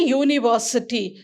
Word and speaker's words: university: university when i say university so how did it sound when i say university it sounds you it sounds y o